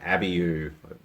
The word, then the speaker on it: abiu: We've even got one up there that I don't even know how to pronounce. It's called an abiu, I believe.